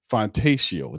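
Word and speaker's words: Fontecchio: How you pronounce that? Fantaccio? That's the guy Fantatio.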